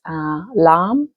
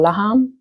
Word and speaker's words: Lam: And one of them is Lam or Laham. It's spelled Lam.